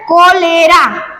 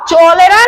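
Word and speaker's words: cholera: यहाँ पे लिखा है कोलेरा, कोलेरा, क्या लिखा है, कोलेरा। वैसे तो सी एच से च होता है लेकिन इसको चोलेरा नहीं पढ़ना है, कोलेरा पढ़ना है।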